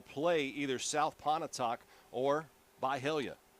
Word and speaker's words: Byhalia: Once again, the winner of this ball game wins Region 4-4A and will play either South Pontotoc or Byhalia. Byhalia. Wait, Right? you pronounced it correctly.